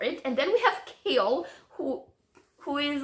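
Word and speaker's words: Chaol: Kale, like the vegetable.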